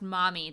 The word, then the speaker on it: MOMI: to read a little bit about this it's pronounced mommy database is that correct so it's the McGee